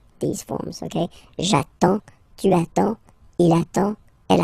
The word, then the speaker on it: j'attends: So the first form will be j'attends, j'attends, okay? You get D and S, well, basically you don't pronounce them, okay? And then you get only the sound attends.